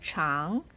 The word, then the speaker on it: 常: pinyin for the word cháng, ch as a consonant and ang as vowel, pronounced with the second tone on top of a. This is how you pronounce it.